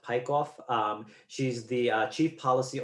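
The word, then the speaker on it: Peikoff: think her last name is pronounced pike off um she's the chief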